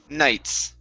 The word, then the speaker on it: knights: word is pronounced nights the k is silent knights okay very good um